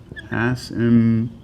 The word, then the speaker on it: asymptote: Asymptote. That's a weird word. It's spelt weird. It's pronounced weird. A-S-Y-M-P-T-O-T-E. Asymptote. The P is silent. Asymptote.